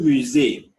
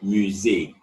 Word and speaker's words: musée: Le musée. Le musée.